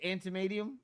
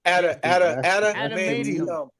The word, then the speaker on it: Adamantium: How do you say antimanium? Adamantium.